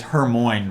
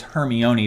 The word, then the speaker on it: Hermione: the hermione correct me if i'm saying her name wrong i said her name as hermoine for the longest time someone told me that's not right it's hermione but this is a three piece and i'm